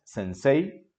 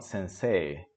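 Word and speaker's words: 先生: o o dooo y lo mismo en la palabra sensee Okay no es sensei sino sensee Okay pero esto lo vamos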